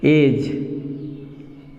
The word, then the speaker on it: edge: अब देखिए एज, EDGE, डी यहाँ पे भी साइलेंट।